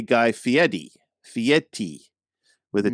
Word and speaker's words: Fieri: you turn it on there's something from Guy Fieri guy finally remind me which is the one